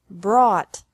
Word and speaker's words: brought: is the same bring brought brought by bought bought catch caught caught fight fought fought seek sought sought teach taught taught think thought thought remember that the G is silent in these verbs verbs with three different